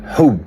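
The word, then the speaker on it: حُبّ: Par contre, si vous connaissez bien l'arabe, vous savez que c'est le même mot que hab. Ça s'écrit pareil. Simplement que ça se prononce pas pareil.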